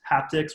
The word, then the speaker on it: HaptX: sort of like hand-based haptics. One company is called Haptics, like it's spelled, I think just HAPTX or something.